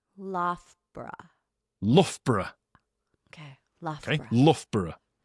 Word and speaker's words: Loughborough: It's Lugabaruga. It's not. It's not Lugabaruga, no. The O-U-G-H is pronounced as uff, like tough. Loughborough.